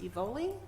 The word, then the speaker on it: Evoli: I believe it's pronounced Evoli Cobblestone Pit for a 10-year renewal request. Is that correct, Matt? Correct? Correct.